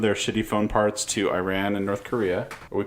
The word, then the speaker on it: Iran: North Korea and Iran I know you prefer that I say Iran I say Iran I've always said it Iran Iran Iran Iran I don't prefer that you say that's how you say it Iran I don't I don't